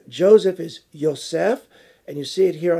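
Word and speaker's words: יוסף: left on the name but they're pronounced identical yosef yosef another name is the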